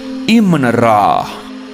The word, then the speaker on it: Amun-Ra: The famous god Amun-Ra or Amon-Ra is pronounced Imn-Ra.